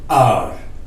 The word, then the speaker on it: our: ठीक है, तो इसको आवर नहीं पढ़ना है, आर आर, this is आर, आर आर करके आप ऐसा इस प्रोनाउंसिएशन ऐसे दे सकते हो, आर आर आर आर करके। This is आर mistake, आर mistake, this is आर mistake, आर, आवर नहीं प्लीज।